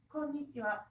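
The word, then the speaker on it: こんにちは: 그래서 맨 첫 번째 이 10개의 글자 중에 하나가 올 때는 일본인들도 발음을 되게 약하게 컨니치와 이렇게 발음을 해요. 컨니치와 이렇게 하지 않는단 말이에요.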